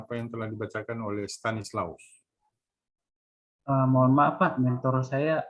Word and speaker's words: Stanislaus: Bacanya begitu. Stanislaus ya.